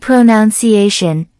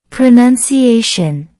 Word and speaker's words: pronunciation: If you said pronunciation, that's a common mistake. The correct pronunciation is pronunciation. Pronunciation. Let's break it down. Pronunciation. That's 5 syllables. The main stress is on A.